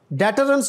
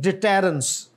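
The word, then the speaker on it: deterrence: dictatorship कह ले and this is डिटेरेंस टरेंस नहीं डिटेरेंस और आगे डिस्क्र सही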